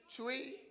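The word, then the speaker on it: Twi: Chui. And I learned you spell that T-W-I.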